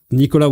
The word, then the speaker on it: Nicolas: Well, see, I mean, there is Nicola all around the world, but Nicola with an S at the end, and you don't pronounce the S.